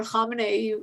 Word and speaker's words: Khamenei: As you said, Supreme Leader Khamenei, you actually pronounced it pretty accurately.